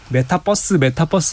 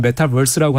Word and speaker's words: 메타버스: 네, 그래서 사실 혹자들은 메타버스 이러시는데 사실 발음을 이제 원어민으로 하려면 메타버스라고 하시든지 아니면 그냥 한국식으로 메타버스 정도 이렇게 하시는 게 맞을 것 같습니다.